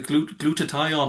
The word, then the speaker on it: glutathione: You can pronounce it better than me. I thought it was a glutathione.